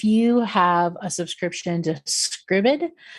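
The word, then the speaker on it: Scribd: have a subscription to Scribbid, you or Scribed, depending on how you would like to pronounce it, but I believe it's Scribbid, um, they are mostly on there.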